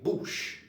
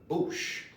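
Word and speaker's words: bouche: now the mouth now you'll hear the mouth pronounced in several ways um here we're going to say boosh bush bush lips is leave of course the lips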